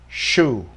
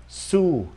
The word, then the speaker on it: shoe: Ví dụ shoe, shoe là giày, lúc nãy mình đọc là su là nhẹ, ha. Su là kiện tụng đó, su. Bây giờ đọc là shoe, shoe.